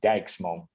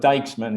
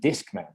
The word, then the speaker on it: Dijksman: You're pretty familiar with how we pronounce the I and the J.